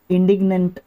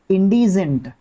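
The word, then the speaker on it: indigent: उन needy people को इंडिग्नेंट एक तरीके से इंडी इंडी इंडीजेंट, वेरी गुड, अभी सही प्रोनाउंसिएशन आया, इंडीजेंट आपका देखने को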